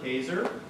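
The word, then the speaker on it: Kaczor: Christopher Kazor. That's K-A-C-Z-O-R. Rhymes with razor.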